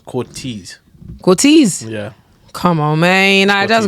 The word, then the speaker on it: Cortez: Whenever Clint is talking about Cortez, he never says Cortez.